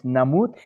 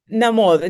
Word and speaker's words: Namud: The correct pronunciation of your last name is Namud? Namod, no, Namod. The H is Namod. mute. Namod, and the O. O is like in Spanish.